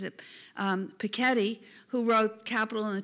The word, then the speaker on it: Piketty: to a lecture by the mcaddie I always pronounce it Piketty but I learned at the lecture he pronounces it Paquette ii who wrote capital in the 21st century about